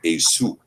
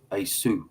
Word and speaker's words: Esau: Well, I I actually pronounce it Asu. Asu. Yeah. E Su. Asu.